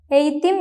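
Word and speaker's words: eğitim: For example, എയ്ത്തിം means education.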